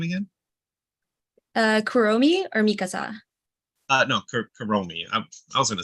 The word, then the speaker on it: Kuromi: No, Kuromi. I was going to say Kurami, but okay, so that's also could be my accent.